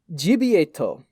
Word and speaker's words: Gibiate: So it's pronounced Gibiate, and Grant's not going to pronounce it right.